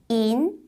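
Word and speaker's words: 银: 발음은요. 인 이렇게 위에 올려주시고요.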